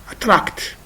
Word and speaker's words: attract: at this example example example attract attract this is the phonemic transcription of attract as you see and attract so the second syllable is stressed this is a verb